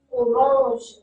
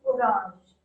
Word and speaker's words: orange: So the French word has the same spelling, but the pronunciation differs. How it is? Orange, orange.